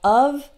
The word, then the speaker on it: of: off so we have of and off and there's also a difference in the consonant so in the word of spelled with only one F the F is actually pronounce like V uh don't pronounce it